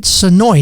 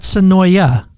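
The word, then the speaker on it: Senoia: Sonoy, not Sonoya. Yes. Okay. My next guest says yes, Sonoy, because I understand if you say Sonoya, the people in Sonoy will get very mad at you for pronouncing the A.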